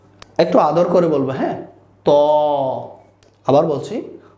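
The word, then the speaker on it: ط: বর্ণ এখানে হচ্ছে তফ তা হচ্ছে আমরা মুখ ছেড়ে দিয়ে বলি তা আর ত হচ্ছে আমাদের এই যে মুখকে ঠোঁটকা একটু গোল করে আমরা বলবো ত ঠোঁটকা একটু গোল করে ত কেমন এরপর হচ্ছে সেইম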